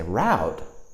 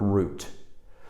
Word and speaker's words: route: for those of you who might say route well r-o-u-t-e route or if you're listening to a British English speaker you will probably hear the word root but the word route r-o-u-t-e Americans might pronounce it root or route it will just depend on the person and perhaps the region that you're in so for example I